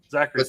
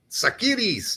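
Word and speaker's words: Tsakiris: I mean, you're Greek. You should know how to pronounce his last name. Sakidis. Okay. If you really want to be all Greek about it. But Zachary's is fine.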